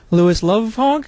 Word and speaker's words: Lovhaug: Okay, this is Ian again from 2 City TV, and I'm here with Lovhaug, I believe. Hopefully I didn't butcher the name, and otherwise...